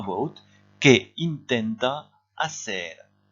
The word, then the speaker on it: intenta: Que intenta hacer? Et vous faites attention ici à bien prononcer in, comme en anglais.